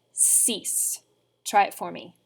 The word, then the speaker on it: six: pronounced exactly the same the i in the french language is pronounced like the letter e so we get cease try it for me sis from the top cease